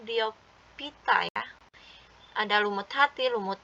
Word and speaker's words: Bryophyta: Ini bacanya Bryophyta ya.